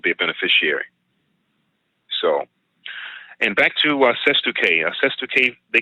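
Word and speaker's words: cestui que: It's called SESTU-K. SESTU-K. SESTU-K is another word for a beneficiary trust. So if you have a trust set up for you, that's a beneficiary trust. You can also call it a SESTU-K trust. And that's just a Latin word. It's kind of a weird word, and I may not have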